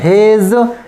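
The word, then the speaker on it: hedge: डी नहीं पढ़ी, एज, इसमें भी नहीं पढ़ेंगे हेज।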